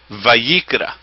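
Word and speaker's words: ויקרא: Vayikra is the way that you pronounce it.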